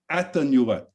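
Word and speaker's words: Atanarjuat: i'll try it again at the nuet is that close greg yeah that sounds good to me the fast runner i always pronounce the j but that's probably wrong too but anyhow it's it's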